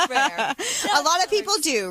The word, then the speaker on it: RARE: So, regarding RARE, now there is a French way of saying it, which I cannot roll my R's, so I'm not going to try. So how do you say it? I say rare. I can't say the French version either. Okay. Because I'm Latin, but rare. Okay, Yeah. so there you go. I'll say rare.